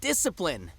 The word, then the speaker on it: discipline: I love the word discipline I don't like the way it's spelled EIS see I PL I and II discipline it's not why do you need to see in their discipline I don't get it